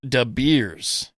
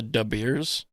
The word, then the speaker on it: De Beers: I don't think that's how it's pronounced because it's Dutch. I think it's like De Beer.